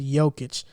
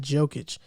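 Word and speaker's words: Jokić: for joking joking so it's a y it's like a y okay i feel like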